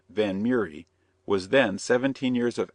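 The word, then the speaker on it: Vanhomrigh: time miss van Hamry a name which she and her mother pronounced van murri was then 17 years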